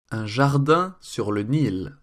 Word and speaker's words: Un Jardin sur le Nil: So here's a dubbed version with the correct pronunciation. Un jardin sur le Nil, Hermès.